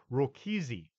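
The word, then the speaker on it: Rákóczi: of Prince Francis II rokisi that's it's spelled different from rogosy from Transylvania during one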